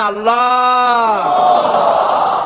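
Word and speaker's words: الله: নিশ্চয়ই মনে আছে আল্লাহ এই উচ্চারণটা আমাদের অনেকের হয় না কেউ বলে না আল্লাহ আল্লাহ পাকের উচ্চারণটা হচ্ছে আল্লাহ পাকের নামকরণ হচ্ছে আল্লাহ মুখটা একটু গোল হয়ে যাবে বলেন আল্লাহ আল্লাহ সুবহানাল্লাহ পৃথিবীতে বিভিন্ন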